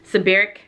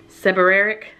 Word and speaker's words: seborrheic: I have like um it's like sebaric dermatitis I think I'm saying it right it's like seborrheic dermatitis whatever it's kind of